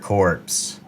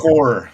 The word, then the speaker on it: corps: linebacker corpse. I think it's pronounced core. I think it's pronounced core, man. Yes, it's silent. It's like Illinois or De Moine.